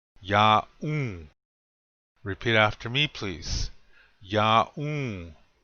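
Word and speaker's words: yaún: Ya'u. This means you are. Notice the accent is on the second syllable. Ya'u.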